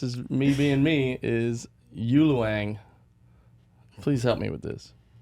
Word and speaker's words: ULOANG: So, it's based on my last name. I just switched the syllables and made up the word ULOANG. So I also made up the pronunciation.